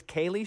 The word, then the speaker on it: Kalie: Wonderland I'm gonna play this is Kayleigh shore by the way ka Li Yi and Amy when you